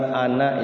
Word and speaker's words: أنا: Di situ ada kalimat ana ya. Di dalam Al-Qur'an itu kalau ada kalimat ana, itu bacanya ananya jangan dibaca panjang tapi pendek.